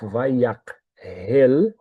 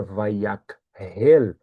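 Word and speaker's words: ויקהל: Vayakhel, é que tem um K e um H na transliteração. E isso na transliteração configura o som de RR, mas está errado, porque a palavra é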